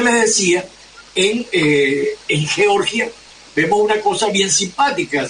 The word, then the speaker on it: Georgia: de Argentina que dicen Georgia No no es Georgia es Georgia así se pronuncia en el idioma original Georgia es un estado